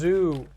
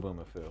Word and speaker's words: Zubumafu: the first syllable of Zubumafu is zoo. So it's Zubumafu. Oh, yeah, that's fair. Yeah, it's Yep. not Zobumafu.